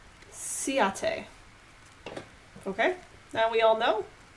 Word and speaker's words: Ciaté: I found an article on InStyle's website, and it is pronounced Ciaté.